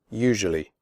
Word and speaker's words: usually: picture adventure future nature usually the first you in usually is pronounced like the word you the S is pronounced like Asia in television usually tough the word